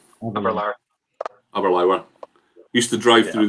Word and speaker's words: Aberlour: I'd say Aberlour. Aberlour. Aberlour. Used to drive through there every day to get to Dulhuan. So good. It's a beautiful part of the world. Rhymes with sour.